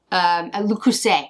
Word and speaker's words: Le Creuset: And then the other things I'm going to buy, they have Le Creuset, and I love Le Creuset. Le Creuset, I'm sorry, I don't pronounce the T.